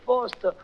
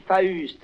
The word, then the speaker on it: Faust: Les Parisiens, ils prononcent Faust, mais à Bordeaux, on dit Faust, vous comprenez?